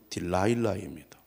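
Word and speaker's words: Delilah: 영어 발음으로는 딜라일라입니다.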